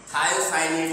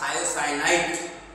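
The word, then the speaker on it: thiocyanate: NATE, ये confusion दूर कर लीजिए। थायोसाइनेट आयन है ये, नॉट थायोसाइनाइट।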